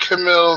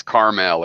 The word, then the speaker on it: Carmel: I think I think Camille came in once to argue with pero and that was just crazy just it's Carmel it is Carmel oh so it is